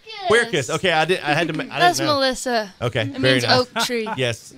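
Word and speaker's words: Quercus: from circus at aop how do you say that circus q-u-e-r-c-u-s queer kiss okay that's Melissa okay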